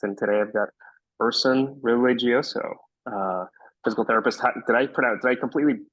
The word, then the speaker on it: Religioso: Religioso would be okay if I was Italian, but I'm Filipino, so it's Spanish, so it's Religioso.